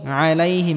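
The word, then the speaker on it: عَلَيْهِمْ: থাকবে এখানে দাল বলা যাবে না মোটা হবে আলাইহিম এখানে গলার মধ্যে হালকা চাপ দিয়ে উচ্চারণ করতে হবে আলাইহিম এখানেটিকে মোটা করে উচ্চারণ করতে হবে এবং হালকা আওয়াজ জারি রেখে উচ্চারণ করতে হবে।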